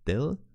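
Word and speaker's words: ∂: version of a lowercase D indeed some people just call this symbol Dil but this can be confused with the number operator therefore if you pronounce this letter here you can simply say d and now you might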